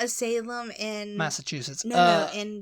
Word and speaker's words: Salem: there is there are some people who would pronounce it St Louis and the next one salum salum I used to say Salam yeah what Salam yeah I like Oh The